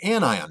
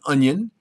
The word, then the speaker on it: anion: type of ion is called an annion not an anion not an onion but an anion an ions are negatively